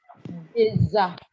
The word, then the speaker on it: des amis: Des amis. Deza. So it's a z. Don't try, please. Thank you, Fumi. It's Deza. You got it.